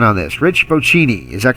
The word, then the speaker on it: Bocchini: He is, and help me out with the pronunciation on this, Rich Bocchini. Is that correct? Oh, it's close. It's Bocchini, but that Bocchini would be acceptable. I'm okay with that.